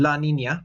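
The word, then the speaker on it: La Niña: The recent climate phenomenon, El Nino and La Nina, which is how you pronounce them, will also increase in intensity and cause more havoc in the Pacific.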